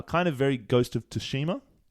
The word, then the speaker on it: Tsushima: Uh kind of very Ghost of Toshima pronunciation which we're saying correctly now.